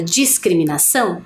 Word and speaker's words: discriminação: encontro de consoantes apenas por isso que eu consigo perceber o som do s mas também o do C quando eu faço a pronúncia Olha só dis cri para ter o cri eu preciso ter a letra C né para ter esse